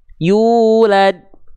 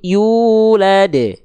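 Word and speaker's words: يولد: yang warna biru salah karena yang warna biru tidak dipantul tidak dipantulkan yulad enggak tapi yulad dan itu terdapat di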